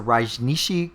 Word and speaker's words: Rajneeshi: This was the Rajneeshi cult. Is that am I saying that the right way? You pronounced that pretty well.